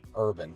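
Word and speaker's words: Herban: Urban, like Urban? Urban, yeah. Oh, like herb, like h e r b, like herb.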